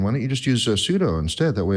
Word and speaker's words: sudo: i've typed su because i just immediately install pseudo and all the machines i have or excuse me sudo i know i've been pronouncing that wrong for all these years and